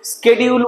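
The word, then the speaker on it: schedule: শিডিউলকে আজকাল কেউ কেউ স্কেডিউল বলে উচ্চারণ করতে পারে, অসুবিধা নেই।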